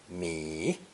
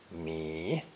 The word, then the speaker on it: 米: Pronounced 3rd tone, mi, mi.